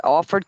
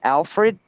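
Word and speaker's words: Alford: maiden name it's it's people pronounce it Alfred but it's not it's it's a-l-f-o-r-d is offered offered you know and yeah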